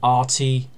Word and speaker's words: Arti: at the moment and when you listen to the name pronounced in the show is definitely pronounced party is definitely got an R in it so I call him RT a R T i